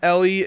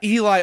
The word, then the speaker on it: Eli: glitter uh you can find more music from ellie uh uh by checking out eli oh my god okay people here listening to